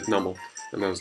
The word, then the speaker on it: Numel: I heard it in the anime, and they said Numel, and I was like, why? And then it's like because it's a numb camel, I think, or something along those lines.